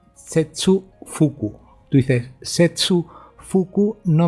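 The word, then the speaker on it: 切腹: Y en el caso del chino, cortar es setsu y vientre es fuku. Por lo tanto, cortar el vientre sería setsu fuku.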